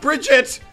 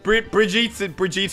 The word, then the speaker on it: Brigitte: And for everyone who's saying it wrong, it's not Bridget. It's Brigitte.